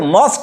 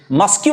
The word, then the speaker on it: mosque: this is called mosque आपण एटा को मॉस्क कहिबे मस्क्यू कहिबे नहीं यार आउट प्रोनाउंसिएशन मध्य रहिछि